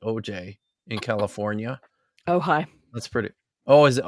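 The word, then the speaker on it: Ojai: recently I believe at the first church of OJ is that really how it's pronounced OJ in California oh high that's pretty oh is it oh high is it OJ AI yeah yeah that's the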